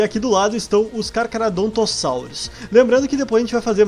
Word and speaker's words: Carcharodontosaurus: é difícil pronunciar porque eu fiquei a vida inteira pronunciando cara que era doutor saulo carcharodontosaurus e agora me falar nos comentários que é que se pronuncia carcarodontossauros então desculpa se eu